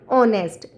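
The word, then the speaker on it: honest: Letter बाद में एन ऑनेस्ट ऑनेस्ट में एच साइलेंट होता है और वोवेल साउंड है इसलिए एन आर्टिकल आया है।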